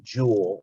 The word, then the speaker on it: joule: a newton meter and we call that a jewel i'll spell it for you j-o-u-l-e for james jewel okay